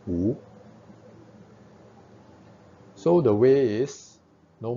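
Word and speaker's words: 無: The Japanese call it Mu. Okay, but Chinese we will pronounce this as Wu.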